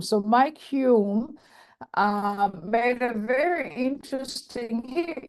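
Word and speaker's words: Hulme: climatologist uh my Hume even though it's spelled kind of funny but it's pronounced Hume so Mike Hume um made a very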